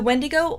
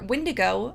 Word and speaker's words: Wendigo: urban legend creature is the wendo or wendigo I've heard them pronounced both ways is a mythical man-eating